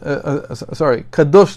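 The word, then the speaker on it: קדוש: end of the Torah, these words appear again, but not with the same pronunciation. There it says, Kodesh LaHashem, instead of, Kadosh LaHashem.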